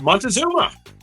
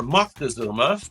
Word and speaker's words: Montezuma: This is Montezuma, or Moctezuma, as some like to pronounce it.